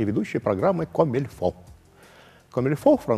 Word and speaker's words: comme il faut: «Комильфо» — французское слово, только пишется «comme il faut», переводится как «так, как надо».